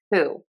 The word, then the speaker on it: who: We do have a wh that we pronounce as an h sound and we see that in the word who.